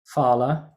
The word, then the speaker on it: phala: Phala, it's not phala. In Sanskrit, ph is pronounced pa, not fa.